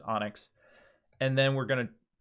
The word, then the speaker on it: ONNX: easiest way we'll take this onnx file which is probably pronounced onyx and then we're going